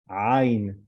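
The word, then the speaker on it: ayin: Ain, not ain. Again, Mizrahi Jews will know how to pronounce it, ain. And if it's Ashkenazi Jews from the West, he will say ain, but it's not the precise. Ain is better. Ain.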